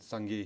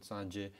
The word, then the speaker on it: Sangye: And we pronounce it Sangye here, the Tibetans pronounce it Sanje.